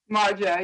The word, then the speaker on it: Marja: And it's pronounced Marja, is that correct? Marja, yes.